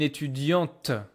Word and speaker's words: étudiante: Un étudiant, une étudiante. T at the end.